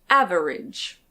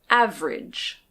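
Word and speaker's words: average: This word can be pronounced "av-e-rage". Av-e-rage. But most of the time we actually say "av-rage". Av ridge. Av-rage. So although it's not wrong to say "av-e-rage", usually we don't pronounce the second syllable and we say "av-rage".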